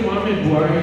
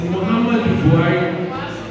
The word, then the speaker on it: Muhammadu Buhari: Because you first said Muhammad Buhari, he said it's Muhammadu Buhari. So it is M-U, H-A, and then the end is U. But a lot of people say Muhammad Buhari, it's Muhammadu Buhari.